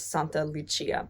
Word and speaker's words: Santa Lucia: Sankta Lucia is the Swedish pronunciation, but the proper pronunciation is Santa Lucia, because Saint Lucy, Santa Lucia, is a Christian saint coming from Syracuse in Sicily.